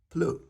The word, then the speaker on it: pleut: And if it's just raining or drizzling or just tipping down, you can just say il pleut. Il pleut. Il pleut. The T is silent.